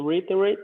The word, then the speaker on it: reiterate: So reiterate. 4 syllables. Reiterate. Oh, reiterate. So good. See, you are the master. So repeat. Good job. And Kajina had the past of seek. How do you pronounce it now? Sought. Kajina? Sought. Sought. Yeah, seek, sought. Very good. Sought. Okay. Reiterate. So reiterate. Eight. So 4 syllables.